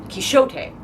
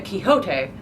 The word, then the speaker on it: Quixote: gets even funnier because the original pronunciation was kishote and then it turned into Quixote and now we somehow